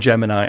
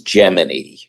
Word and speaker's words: Gemini: Um, within NASA, it was Geminy, spelled the exact same way, but it was Geminy 12, Geminy 8, the Geminy program.